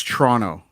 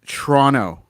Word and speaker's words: Toronto: i live near toronto if you're living in ontario it's toronto listen to the pronunciation listen to the pronunciation it's toronto right toronto i'm going up i'm going to toronto this weekend yep going to toronto this weekend you take letters out this is no disrespect i